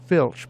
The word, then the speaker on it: FLC: there's a new feature FLC pronounced Filch because in some installations it's labeled FL CH that doesn't mean exactly